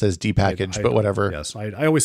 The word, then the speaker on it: dpkg: calls it dpkg I call it I've always pronounced as D package but whatever yes I always say it in